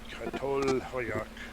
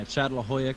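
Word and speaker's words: Çatalhöyük: Some of the early towns like Jericho and Katolhoyak. Let me see if I used to know how to say it. Yeah, Chatlahoyak or something like that.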